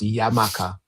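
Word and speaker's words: Xaymaca: comes from, but it's it was pronounced Yamaka with an X. Um but they they spell it with a J now Jamaica.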